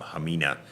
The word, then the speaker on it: Hamina: the new ham or hamina depending H they they pronounce it h most of the people in the Western World pronounce it um hamina but Peter wrote a